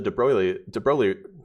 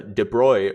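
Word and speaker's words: de Broglie: Um well high energy physics through the debro sorry I should pronounce right the de bruy relation lambda equals hc over e which is h over p is the momentum.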